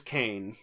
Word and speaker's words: Kane: Yes, his name is Kane, as in, and Abel.